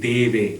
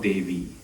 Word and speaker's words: Deve: So we're saying Deve, not Devi.